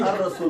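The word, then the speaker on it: الرسول: So you read it as Ar-Rasul, the Lam is silent. So if it's Shamsi letters, the Lam is silent, and if it's Qamari letters, the Lam is not silent.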